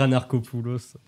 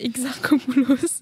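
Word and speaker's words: Exarchopoulos: famille Adel attends attends exarcopulos ouais oui c'est ça Adel exarcopouos j'ai falli dire anarcopulos et non c'est exarcopouos tu as euh réussi à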